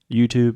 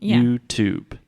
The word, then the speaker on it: YouTube: opposite of saying YouTube because we are pronouncing the T Here YouTube is a traditional true te YouTube YouTube yes yeah here